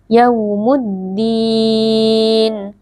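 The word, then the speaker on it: يوم الدين: sukunnya dibaca dengan lunak yaumuddin di sini ada alif lam syamsiyah karena ada alif lam yang bertemu dengan huruf Dal cara membacanya lam sukunnya dileburkan ke dalam huruf Dal yaumuddin di sini ada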